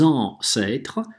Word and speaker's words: ancêtres: «e» все время, да, с открытым ртом на «e» говорим nos ancêtres, здесь на конце «э» читаем, что между трех согласных она оказывается.